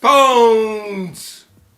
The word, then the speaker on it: Pwns: And this is our preview of Pwns. Like you just been pwned. Beep. But where's the A? No, it's gaming lingo. Your stomach knows what it is. Starving. My stomach's grumbling. Pwns, like you've just been pwned or owned.